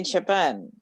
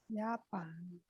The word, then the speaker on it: Japan: Yeah, and Japan is Japan. So it's the same writing, only different pronunciation.